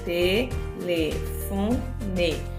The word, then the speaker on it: telefone: Telefone. Observa que o fon, telefone, que é a sílaba mais forte, o fon, ficou aqui onde estava a setinha.